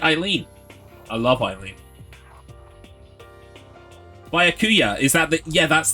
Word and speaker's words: Byakuya: The ya is the only stressable syllable. Byakuya. Okay. Byakuya.